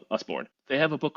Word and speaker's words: Usborne: I think it's Usborne. I'm not sure how to pronounce it, but looks like U.S. born with an E at the end. Usborne.